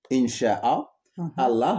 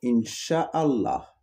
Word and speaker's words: Inch'Allah: Il y en a qui vont dire Incha'Allah. C'est comme si les deux A, ils se collent et deviennent A. D'accord.